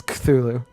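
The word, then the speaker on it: Cthulhu: funnier part is like actually not saying culu adding that extra a in there for no good reason apostrophes apparently pronounce as A's but instead it's culu cthulu say it exactly like that like extra like could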